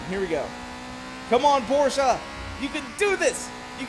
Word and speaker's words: Porsche: No, it is Porsche. The guy's name who invented it is Porsche. So, he's German. You got to use that pronunciation.